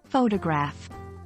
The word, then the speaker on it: photograph: Consider the word photograph. In this case, the stress is on the first syllable, and the O in photo is pronounced with a long vowel sound.